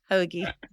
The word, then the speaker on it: hoagie: The last word is HOAGIE. Hoagie. Hoagie. This is fun. Hoagie. Yeah, emphasis on the ho.